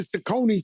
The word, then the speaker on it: Saucony: So, you talked about the I've been wearing Saucony since I was a baby.